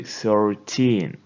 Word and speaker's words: thirteen: ending tin like this most of the stress goes to the end so you say 13 and in 10 numbers you put the stress on the first syllable like 30. it sounds differently 13 and 30.